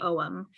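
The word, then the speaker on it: ogham: good books about the OM um and C can you put in the chat how you spell om o o g h a m and the g is silent and just like all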